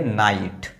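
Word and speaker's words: night: अब देखिए यहां पर ये जी एच है और जी एच के पहले फिर एक वोवेल लेटर आ गया। इसलिए इसको पढ़ेंगे नाइट। यहां पर देखिए ये जी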